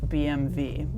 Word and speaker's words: BMW: what you guys think should you be saying BMV because that's how it is pronounced in Germany anywhere in the BMW